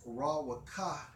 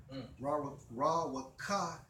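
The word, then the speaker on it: רוּחַ: pronounced as Rawaka. Rawaka.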